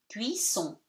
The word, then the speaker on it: cuisson: you K, so cuit, double S gives you S, cuit, son, O-N at the end gives you nasal one. Cuisson.